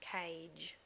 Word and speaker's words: cage: our first word today, which is cage. K-A-J, and it's going to use the G when it's making a J sound, and it has a silent E next to it, like the C in mice. And so it has two jobs there, making the G say J, and the A say A.